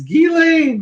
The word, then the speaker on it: Ghislaine: And I had about 10,000 comments telling me it's Ghislaine, like Guy and Lane.